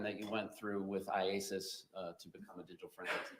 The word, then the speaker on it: IACIS: IASIS. IASIS. All right. I just want to shorten it for today. Yes. All right. So IASIS. Tell us about that program that you went through with IASIS to become a digital forensics examiner.